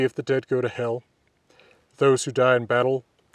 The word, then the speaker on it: Hel: reconstructed Old Norse pronunciation rather than modern Icelandic pronunciation, which is true of all my videos. I will often be mentioning hell and Valhöll.